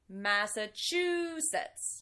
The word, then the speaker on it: Massachusetts: Massachusetts. This word is also tricky because it's long. So there's also the last syllable, which has that T-I-O-N that can be difficult to pronounce.